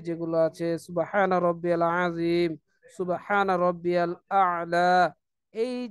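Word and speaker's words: سبحان ربي الأعلى: আমাকে অবশ্যই এগুলো সুন্দরভাবে উচ্চারণ করতে হবে। সুবহানা রব্বিয়াল আ'লা, সুবহানা রব্বিয়াল আ'লা, সেজদার তাসবিহ এভাবে বলতে হবে।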